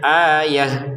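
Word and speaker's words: آية: Ayatun kita bacanya ayah gitu. Terbacanya ha. Kenapa? Karena kita berhenti.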